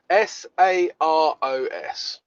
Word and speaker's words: Saros: If you don't know what the Saros cycle is, but then you say you have knowledge, then you don't. Spell it. So it's like Soros, but with an A.